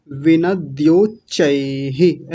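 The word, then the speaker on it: विनद्योच्चैः: वाला शब्द जो है विनदो चैह ऐसा बोलिए विनध्य धो नहीं द विनदो चैह विन चह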